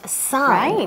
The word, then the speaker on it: son: It sounds like the sun in the sky, but it's not that.